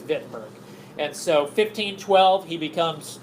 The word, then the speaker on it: Wittenberg: Okay, so I know it says Wittenberg. That's just how you say it. Germany is a V. Okay, it's Wittenberg.